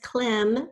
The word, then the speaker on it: climb: long long time ago there's Klim we think we'd add a silent e but instead you remember what we're going to add that's right it's a be silent and be the next